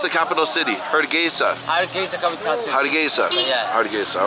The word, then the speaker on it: Hargeisa: How do you pronounce the capital city? Hargeisa. Hargeisa, capital city.